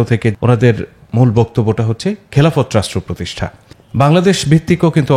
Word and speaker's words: খেলাফত: খেলাফত রাষ্ট্র বা খিলাফা, আসলে শব্দটা আমরা যেহেতু একার দিয়ে উচ্চারণ করি, তাহলে খেলাফত বলি আমরা, যেমন ইবাদত, এলহাম, আর ইদানিং বলি খিলাফা।